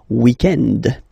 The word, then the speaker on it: weekend: So if we're talking about the weekend, okay, but then pronounce it the French way, weekend.